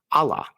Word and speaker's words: Allah: Eventually it's going to start sounding like Allah. And yes the h at the end is important. It's a consonant and critical to the meaning.